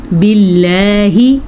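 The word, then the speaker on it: بالله: اعوذ، اعوذ، پہلے حمزہ اور پھر عین۔ باللہ، اللہ کا نام باریک کیونکہ اللہ کے نام سے پہلے زیر ہے۔ باللہ، اعوذ باللہ من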